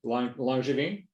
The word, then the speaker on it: Langevin: Langevin. Is that the correct pronunciation? It's a French name. Langevin.